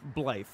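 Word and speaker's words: Blaidd: But it's pronounced Blythe. Blythe.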